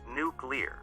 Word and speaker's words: nuclear: The word is nuclear, not alcove-ulaw.